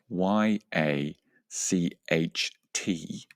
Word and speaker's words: yacht: So for the record it is spelled Y A C H T and it is pronounced yacht.